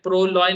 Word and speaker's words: प्रलय: क्योंकि मैं, मेरा जो प्रलय स्पेलिंग होता है वो संस्कृताइज प्रलय स्पेलिंग होता है, मैं ये इस तरह से करता हूँ। और जो लोग बंगाली स्पेलिंग करता है, ठीक है, प्योर बंगाली में, वो लोग प्रो लॉ ऐसे करके बोलते हैं, ठीक है।